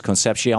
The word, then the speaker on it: Concepcion: Is this case, first of all, am I pronouncing it right? Is it AT&T versus Concepcion? Yes, it is.